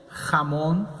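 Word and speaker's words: jamón: Ramon se escreve J-O-M-A.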